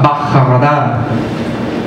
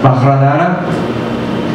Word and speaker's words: Vajradhara: Bien, primero que nada, antes que Amida Buddha, tenemos a Bajaradara. Vamos a pronunciar ese nombre. Bajaradara.